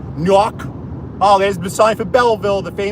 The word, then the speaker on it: Newark: KN nework New Jersey cuz I don't want to say it Newark because of apparently that's how New Yorkers say it when you say it Newark so I got to say it like New Jersey PE people say it nework oh there's been sign